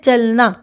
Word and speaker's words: चलना: दिया जा रहा है वही चलना यहां पे भी आप देख सकते हैं कि चलना जो है यहां पे मध्य का जो ल है यहां पे अ का पूर्ण उच्चारण नहीं हो रहा है तो च पे ज्यादा जोर दिया जा रहा है चलना तो कहने का अर्थ है